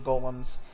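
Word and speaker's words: GOLM: id is gtmcmg olm he's asked to be referred to by the last bit which is of course g-o-l-m much to the right has been pronounced like golem anyway on a side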